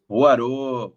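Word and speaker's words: Hoarau: que eu não sei se é assim a pronúncia também. Guilhom Roarô. Roarô.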